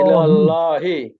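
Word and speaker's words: إلى الله: ইল্লাল্লাহু ইলাল্লাহি ইল্লাল্লাহি আল্লাহ ইলাল্লাহি। ইল্লাল্লাহি একটু মুখটা ভরে উচ্চারণ করেন, ইলাল্লাহি। ইল্লাল্লাহি ইলাল্লাহি মাশাআল্লাহ, ইল্লাল্লাহি অনেক সুন্দর হয়েছে।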